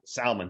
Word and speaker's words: Salman: Salman. Which Salman, like how people mispronounce salmon.